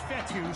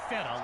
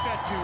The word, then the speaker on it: Fetu: So Coach Fetu, spelled F-E-T-U. For the longest time, I was pronouncing it Coach Feta, like feta cheese.